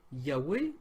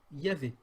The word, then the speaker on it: Yahweh: Alors, ils ajoutent, d'après certaines données linguistiques, un grand nombre de spécialistes optent pour Yahweh ou Yahvé.